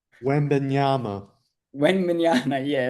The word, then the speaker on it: Wembanyama: How do you say it, Nick? Yeah, I know you know. Wembenyama.